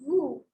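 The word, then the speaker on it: vous: In these two words, we use the vowel consonant rule. That is, we do not pronounce the last word if it is a consonant and the alphabet before it is a vowel. So in this case, it is the same. It is nu and woo. Nu woo, nu woo. We do not pronounce the S.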